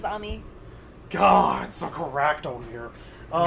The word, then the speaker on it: Ami: Sal and Salem Mery that's how you pronounce it in Japanese is Amy God so correcto here